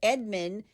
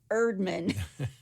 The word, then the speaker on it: Erdman: A civil engineer named Earl Edward Edmund took I got his name wrong. Let me try that one more time. He's a civil engineer named Earl Edward Erdman. Edward Erdman. Earl Erdman. Erdman. It's like the chef on the Muppets.